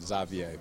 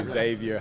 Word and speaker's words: Xavier: No, I was born in Belgium, and so they speak Flemish over there. So it would be Xavier here, but it's part like French, part Flemish, so that's why they pronounce it Xavier.